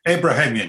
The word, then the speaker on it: Abrahamian: thank you professor irvan abrahamian did i pronounce that correctly uh uh uh abrahamian yes doctor raymond excuse me